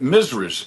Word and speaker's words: Mrs.: And if you read Gone with the Wind, they call them Misras. Not Mrs., but Misras.